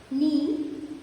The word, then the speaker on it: knee: Knee, knock and no. In these words, K is silent because we do not get the K sound of K in these words. The word begins with the N sound.